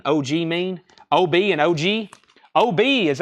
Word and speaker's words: Obi: mean OB and OG OB is actually spelled OB y That's Japanese that means this thing right here Obi OB Obi I'm saying OB but it's spelled OB y OB I OB letter I that's all caps all together that means sash in Japanese that is this strip that